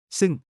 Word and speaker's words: ซึ่ง: T 티 승 승과 둥 사이의 소리 격식 있고 풍격 있는 사촌.